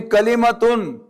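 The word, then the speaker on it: كلمة: A meaningful word, any meaningful word in Arabic is known as Kalimah. Now, this is, when you pronounce it fully, it will be Kalimatun. But I'm now saying Kalimah.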